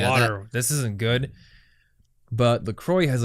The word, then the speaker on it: La Croix: Called LaCroix. And I think you would actually pronounce it La Croix.